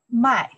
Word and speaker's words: 卖: This one, the four tones here, we pronounce the mai, sell, mai.